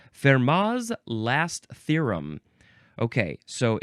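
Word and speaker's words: Fermat's: it's pronounced fmas so I'm guessing that the t is silent the T the No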